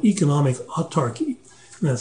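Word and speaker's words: autarky: Nazi Germany uh have practiced what's called economic utarchy and that's spelled a u t a r k y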